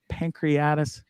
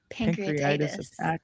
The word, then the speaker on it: pancreatitis: hyper-extended elbows torn shoulders two pancreatic pancreatis how do you say that pancreatitis where are you getting